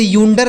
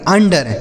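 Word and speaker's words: under: ड आर से र ये लिखा आपका अंडर इसे यूंडर नहीं पढ़ेंगे अंडर ठीक है तो यू अगर किसी शब्द के शुरू में होता है तो हम उसे क्या पढ़ते हैं?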